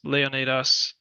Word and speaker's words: Leonidas: So Leonitis or everybody anybody who knows anything about Greek history or Sparta has probably heard of Leonitis Leonatas the more proper way to say it.